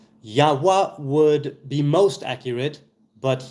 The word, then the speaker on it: Yahweh: The Vav was and is a Waw, not Vei. Right, not V, but W. Yahweh would be most accurate, but Yahweh, fine.